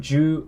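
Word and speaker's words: 十: So number 10 is pronounced or written like this. Ju. Ju. That's 10.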